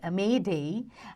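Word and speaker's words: m'aidez: The term Mayday, used for signaling for help after SOS, comes from the French M'aides, okay, which is pronounced Mayday and means help me.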